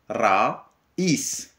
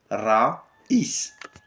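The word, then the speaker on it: رئيس: Vous prononcez le ra, comme on a dit toujours, le R français, on le prononce R roulé. Raïs.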